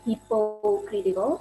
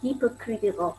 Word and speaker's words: hypocritical: word is a hypocritical because i heard somebody said people critical and i search in dictionary it should be hypocritical so the po letter there should be pronounced as full and then the word